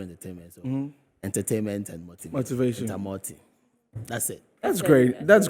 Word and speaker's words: Entamoty: The other name, how do you pronounce it? Entamoty. Entamoty.